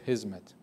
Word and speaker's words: Hizmet: before because of that people call it his mat in Turkish it's in it's an Arabic word that we use in Turkish from hadima in Arabic which means service what we pronounced as hizmet when social scientists in